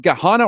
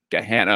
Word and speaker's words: Gahanna: his alma mater uh is it pronounced ghana or gahanna they're in central hannah hannah get hannah okay i want to make